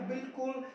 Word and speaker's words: bowl: मैं आपको बिल्कुल सही सही इनका उच्चारण सिखाने वाला हूं। गाइस बात करते हैं इसको, वाउल नहीं पढ़ते, B-O-W-L बाउल नहीं होता। क्या होता है? शुद्ध होता है बोल।